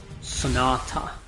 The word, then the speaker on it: Sonata: is not you know why I pronounce Sonata as Sonata with an emphasis on the T it's because if I say it like like in the American accent Sonata Sonata I don't know why